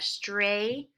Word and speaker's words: straightened: Our GH is actually going to be silent, which the GH often is silent when they're together.